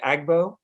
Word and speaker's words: AGBO: Is it pronounced, do you say Agbo? Yeah, that's correct. Okay. Agbo.